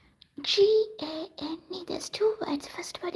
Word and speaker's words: Gane: haven't, this is not Mokume Gane, but this is somewhat yet.